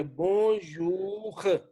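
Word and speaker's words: bonjour: जैसे ये खे की साउंड आ रही है, बोंजूख, ये बोले सारा बोंजूख।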